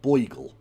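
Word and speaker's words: beigel: It's pronounced it's pronounced and spelled bogel.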